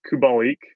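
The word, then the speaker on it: Kubalík: hard the last five or six games is kubalik that's the pronunciation he this guy like started hot very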